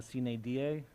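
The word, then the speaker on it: sine die: motion to it's called adjourn Cena da that's how you say it signed I okay so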